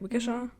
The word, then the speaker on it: Waukesha: Waukesha?